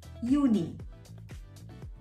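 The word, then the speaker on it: Juni: april april may is june is uni uni again same starts with a j but pronounced as y july is julie yuli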